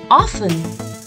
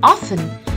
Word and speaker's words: often: this word it's often the t in this word remains silent so we pronounce it as often although sometimes often is also accepted but it'll be better if you pronounce it as often we should wash our